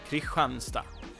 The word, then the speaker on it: Kristianstad: But the pronunciation is Kristianstad with that very nice Yeah, but Kristianstad is There's something after the D also that he pronounced.